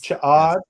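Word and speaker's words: Ch'od: Chod.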